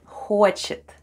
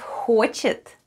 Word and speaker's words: хочет: The first sound is Х, and we sound it out. Х, Х. Then goes О, and О is stressed and is pronounced as О. Then goes Ч. Then we have Е. And the last sound is Т. And together we have ХОЧЕТ.